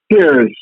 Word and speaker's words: Perse: John Pierce or Percy, I'm not sure of the pronunciation. Okay, St. John Piercy pronounced, it says pronounced Pierce.